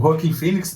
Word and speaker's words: Joaquin Phoenix: Ano passado, retrasado, acho que foi ano retrasado, um deles publicou que o Joaquin Phoenix, a pronúncia correta, o Joaquin Phoenix teria assinado com a Warner para fazer o filme do Coringa.